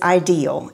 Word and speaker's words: idyl: this company it's idyl the way you pronounce it is ideal and it comes from the French word idyllic which means dreamy and peaceful